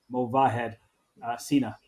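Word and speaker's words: Sina Movahed: you pronounce it correctly I realized that I was switching the H and the V but it's mahad Cena we'll keep an eye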